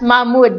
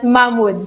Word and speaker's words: Mahmoud: friend from saudi arabia i used to read your name as mahmoud but my brother who used to work in dubai he said that it's pronounced is that right so i used to i just used to read it as mamwood so i hope that it's correct now it's mahmoud so tabengbon jr hello